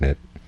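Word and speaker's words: นิตย์: The word for small is nit, and the word for continually is nit. It's spelled different ways, but pronounced the same way.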